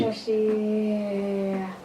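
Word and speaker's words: Sasi: I don't know how to do Shashi, S-A-S-I. That is pronounced as Shashi.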